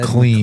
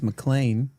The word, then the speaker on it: McLean: I think the first time I said it, I said McLean. McLean, and Kyle was like, "It's McLean," as if I should have known.